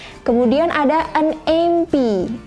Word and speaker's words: MP: Kemudian ada an MP. MP, M itu cara bacanya seperti huruf E dulu di depan ya.